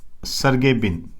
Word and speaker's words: सर्गे ब्रिन: Larry Page व सर्गे ब्रिन के द्वारा। ये प्रोनाउंसिएशन होता है, इस पे गड़बड़ी मत कर देना, कोई दिक्कत वाली बात।